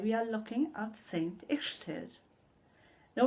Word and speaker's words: Illtyd: saints and today we are looking at saint ixted now it's pronounced like that because as you know a